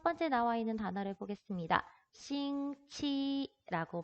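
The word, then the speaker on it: 星期: 싱치라고 발음을 하죠. 자, X라고 나와 있는 한화 병음의 성모는 우리말에 시옷으로 발음을 하시면 돼요.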